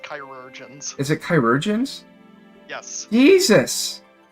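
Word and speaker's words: chirurgeons: It's pronounced chirurgians.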